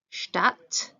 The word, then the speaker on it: Stadt: Don't forget your ST is a Stadt, and again, Strand.